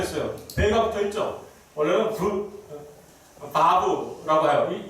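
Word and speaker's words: וָו: 이 바브는 아까 베라고 발음했던 바브 혹은 와우라고도 이렇게 발음하기도 하는데, 이 단어는 바로 이거예요.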